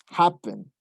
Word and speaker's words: happen: Como por ejemplo, tenemos happen. Tenemos que hap es el stress. Happen.